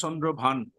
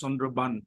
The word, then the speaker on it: Chandraban: don't pronounce it as Chandrabhan. Pronounce it as Chandraban.